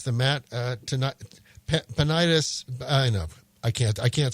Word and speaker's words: Panayides: Yeah, it's Matt Panayides. I'm glad you pronounced it because I almost did it wrong. Panayides.